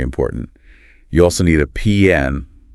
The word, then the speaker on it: PIN: Just say PN. It rhymes with win. PN.